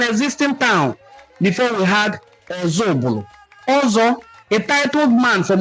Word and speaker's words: Ozubulu: The Igbo in Council of Ozubulu explained that the name of their town is pronounced as Ozubulu from Oza Ubulu, and certainly not meaning another Ubulu, as often misinterpreted.